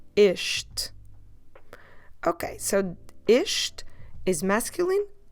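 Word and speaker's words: este: with the sound e isht drop the last e at the end as always isht okay so isht is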